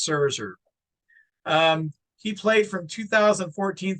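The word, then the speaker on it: Szczur: for you yes z c z u r pronounced server um he played from 2014 through 2017 so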